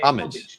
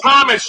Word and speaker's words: homage: We pay homage to him. We pay. I don't think they know what they're talking about. It's pronounced homage, just like I said it. English pronunciation is homage.